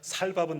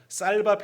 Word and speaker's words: 쌀밥: 광고하시면서 얘들아 삼겹살은 교회에서 준비할 테니까 살밥은 너희들이 준비해라 그러시거든요. 그게 아직도 기억나는데 그럼 우리로 말하면 쌍시업 발음이 안 되는 거죠. 그래서 쌀밥 해야 되는데 살밥 뭐 이렇게 발음하는 그런 얘기예요.